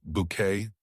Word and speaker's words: Bucket: The delivery arrived at Blossom Avenue just as Hyacinth Bucket, pronounced Bouquet naturally, was polishing her Royal Doulton with the hand-painted periwinkles.